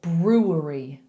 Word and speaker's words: brewery: It's a brewery. Brewery. Brewery. So you've got to get 2 R's in there again. So make the bowl with your tongue and push the lips out.